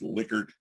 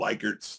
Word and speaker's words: Likert: that's the guy's name it was german it's pronounced liquor you're going to hear a lot of likerts that's the mispronunciation but liquor scale right one